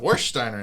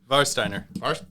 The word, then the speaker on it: Warsteiner: today we're drinking uh warsteiner actually varsteiner oh oh sorry i mispronounced the german w german w yeah varsteiner